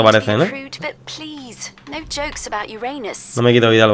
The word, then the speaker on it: Uranus: No jokes about Uranus. No me quito vida al bajar, así que. Besides, the proper pronunciation is Uranus. It's a dactyl.